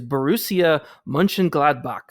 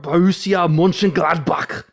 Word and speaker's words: Borussia Mönchengladbach: took me years to figure out how to pronounce this team name, but it is Borussia Mönchengladbach.